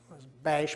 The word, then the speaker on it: Basch: My wife's maiden name was Basch, probably pronounced Bosch when it came from Germany.